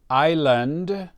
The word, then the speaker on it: island: The island is green. The island is green. Island. We don't pronounce the S.